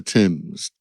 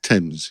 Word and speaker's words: Thames: of the things that I thought was about pronunciation, because it's by the River Thames, and there's lots of buoys floating on the Thames.